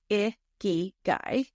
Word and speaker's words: ikigai: It is pronounced iiky guy and it is Japanese combining the word icky meaning life and guy meaning worth or value.